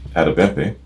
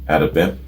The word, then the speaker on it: Adebimpe: Directed by singer Tunde Adebimpe, B-I-M-P-E, I think the E is silent there, with different directors helming the individual clips.